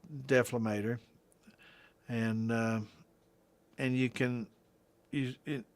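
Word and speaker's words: dephlegmator: And this has got a deflagmator, or a deflamator, depending on how you want to pronounce it. It's deflamator.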